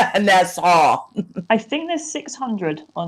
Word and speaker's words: Nassau: No, it's Nassau. Saying it wrong. I said NASA. Nassau.